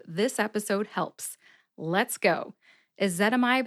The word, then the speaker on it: ezetimibe: episode helps let's go a zetamide has four syllables e which is the short e sound kind of like the e in bed I also think it sounds like a schwa e that is the second syllable that rhymes with pet and this syllable gets